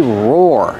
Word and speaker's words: roar: like a dog they roar roar Lions roar like that how do you pronounce roar roar used to sound or like door and floor but start with the r sound r r r together